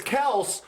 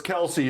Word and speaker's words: Kelce: Yeah, he said it's Kels, but everyone calls us Kelsey, so we just went with Kelsey.